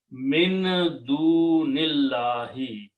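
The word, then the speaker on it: مِن دُونِ اللَّهِ: Min du nillahi, you don't pronounce this alif, so it becomes hamzatul wasl. Okay, so the word, those are the words in the Quran. Min du nillahi.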